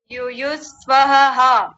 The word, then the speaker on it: युत्सव: दीजिए पूरे शब्द को युत स्वाहा नहीं वही गलती हो रही है युत सवा यु स्वाहा स्वाहा नहीं सवा ये स्वाहा थोड़ी है सवा हां जी सवायु तावा